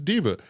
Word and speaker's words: Deepa: oh, her name is Diva. I guess she's a diva or something. Yeah. I don't. And I was just totally People off. call it, I'll take it. Yeah. Rhymes with Shiva.